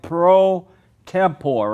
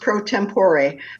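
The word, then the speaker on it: pro tempore: So, I want to ask you about you're the president, if I'm pronouncing it right, pro tempor, right? It's actually pronounced prompor, but that's okay.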